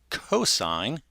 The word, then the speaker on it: cosine: okay the next one is cos this is pronounced cosine all right and this is just over obviously